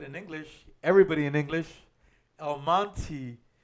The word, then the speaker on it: El Monte: but since it ends with the E they pronounce it in English everybody in English El Monti like the name m o n t why because that's just how weird English is oh yeah El Monte yeah they always they just add the why